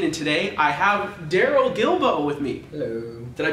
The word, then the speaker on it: Guilbeau: All right, hey everybody, aka, and today I have Darrel Guilbeau with me. Hello. Did I pronounce that right?